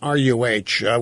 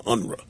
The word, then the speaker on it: Unruh: It's Unruh. Willie Brown always pronounced his name Unruh.